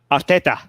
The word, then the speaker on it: Arteta: Arteta.